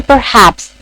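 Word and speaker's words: perhaps: अब मैं जब पर पे आती हूँ तो वो मैं बहुत लाइक उस पर इतना स्ट्रेस नहीं देती हूँ।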